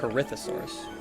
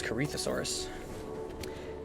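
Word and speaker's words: Corythosaurus: Corithosaurus. That is pronounced. I mean, I know I mispronounced dinosaur names, but I was sure that was Carthosaurus.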